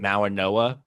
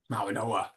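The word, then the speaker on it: Mauigoa: Everything I see, content wise, pronounces his name Mawanoa, Mawanoa. Yeah. but there's no N in his name. It's a G, and I don't know if that's like it's spelled Mawagoa, but everyone pronounces it Mawanoa, and I wonder if that's a Samoan thing or something like that.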